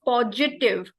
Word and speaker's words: positive: And the pronunciation of positive, it's positive, and she used positive. It's not j, there is no g sound, it's positive.